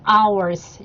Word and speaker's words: hours: 자, 시간이라는 단어는 hours. 자, 이거를 hours라고 읽지 않도록 h가 묵음이어서 뒤에 소리부터 시작해서 hours라고 소리가 납니다.